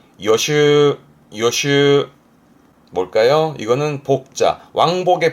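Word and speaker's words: 予習: 발음은 요슈, 요슈.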